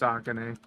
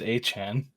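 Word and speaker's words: Achane: I'm very sure that it's Akane. Yeah, Devon Akane. No, it's Achan. It's pronounced Akane. Dude, I'm looking at the pronunciation. It's Achan.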